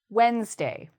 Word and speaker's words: Wednesday: Once you know to get rid of the D, it's a very easy word to pronounce.